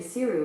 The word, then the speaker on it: Seiryu: The best way to get to Seiryu by car is via I-35 South and will take about 1 day and 10 hours in light traffic.